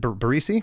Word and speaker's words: Barresi: It was produced by the band and Joe Barresi. Is that how you pronounce it? Barresi?